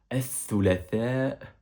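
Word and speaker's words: الثلاثاء: Tu verras que là, il n'y a pas la lettre T en arabe, c'est bien la lettre Th qui rend la prononciation un peu, pas difficile, mais un peu spéciale.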